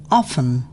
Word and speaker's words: often: T is not pronounced in these common words: castle, Christmas, fasten, listen, often, whistle. thistle, Silent U.